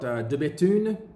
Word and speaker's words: De Bethune: Then we've got De Bethune. De Bethune are cranking out really, really nice watches. The B-E-T-H-U-N-E, don't say the H.